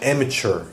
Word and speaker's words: amateur: And then pronunciation-wise, I think you said amateur. American pronunciation, amateur.